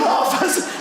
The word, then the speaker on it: half: Even half has an L in it.